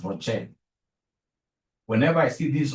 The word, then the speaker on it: ROCE: Whenever I see ROCE, please don't pronounce this as Rose. Rose is my sister. Rose is your mother. Professionally, we pronounce this as ROCE.